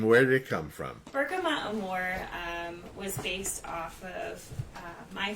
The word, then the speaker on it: Bergamot + Amor: Bergamot Amor.